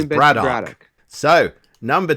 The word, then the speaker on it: Braddock: No, the answer is Braddock. Yeah, because if you say it with an English accent, like haddock. Braddock. Well, how do you say haddock? I didn't. Haddock. It's the same. It's Braddock, like haddock.